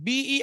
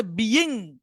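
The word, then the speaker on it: being: হচ্ছিল রাশেদ হচ্ছিল রাশেদ হচ্ছিল আগেরটা হচ্ছে বিং বি আই এনজি মানে উচ্চারণটা হওয়ার কথা বিং কিন্তু বিয়িং না হবে এটার উচ্চারণটা হবে বিং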